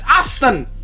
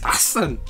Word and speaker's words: Deeqsan: We haven't done Deeqsan before. It's Deeqsan. It's Deeqsan, nah. Now you know how to read it. Nah, I've been, you know. It's Deeqsan. It's Deeqsan.